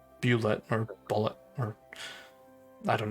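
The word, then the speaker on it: bulette: see i'll just play it through the stream ballet ballet thank you matt mercer that mercer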